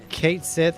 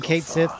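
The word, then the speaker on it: Cait Sith: one of our branded I think Kate Seth is pronounced cat C and then sit right with me you've been saying Kate Sith my whole life I better keep my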